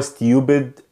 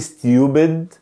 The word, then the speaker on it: stupid: بنقوله كده اللي هو stupid اللي هو student، لا احنا بنقوله double o double o double o. ازاي؟ انا مش بقول stupid، لا بقول stupid stupid stupid stupid، فانا بنطق هنا اليو double o، بنطق اليو double o،